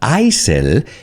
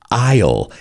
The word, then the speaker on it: aisle: careful with the pronunciation it's not isil it's isle and i always remind my students that pasillo in el avion you say i'll when they ask you